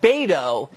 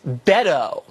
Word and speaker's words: Beto: It's Beto O'Rourke. Not Beto, it's Beto.